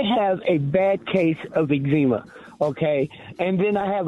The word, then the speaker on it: eczema: yes it can and it would you have eczema is the correct pronunciation for those people that are listening uh